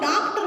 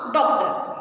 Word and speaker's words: डॉक्टर: अब इसका जो उच्चारण होगा वो होगा ओ, ना कि आ। इसका होता है ओ। तो बहुत से लोग डॉक्टर बोलते हैं लेकिन वो गलत है, ये होगा डॉक्टर।